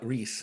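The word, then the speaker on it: Ries: Jack Trout, now Reese. It's pretty. It okay. looks like it's spelled Rise, but it's pronounced Reese.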